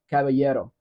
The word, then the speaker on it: caballero: Caballero. Like c a b a y e d o, Caballero.